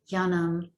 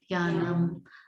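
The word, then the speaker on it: Jñānam: And sometimes in Sanskrit, when there's an N on the end of the word, it still ends up being pronounced like an M.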